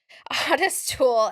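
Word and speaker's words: Ottis Toole: okay so it's based On Loosely based on Odis uh Odis tool and it is pronounced that way oest tool and Henry Lee Lucas um who were a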